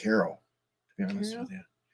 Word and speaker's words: Cairo: I don't know if I've actually been there, but I think it's pronounced Cairo, to be honest with you.